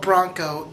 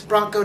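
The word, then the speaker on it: Branko: happen the alien guy I'm gonna call it Bronco even though his name is spelled b-r-a-n-k-o I'm just gonna pronounce it like a horse and the girl of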